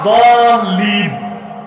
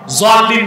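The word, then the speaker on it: الضالين: তো আসলে উচ্চারণটা দলিন, জোয়াল্লিন না। জোয়াল্লিন পড়লে বরং নামাজি হবে না।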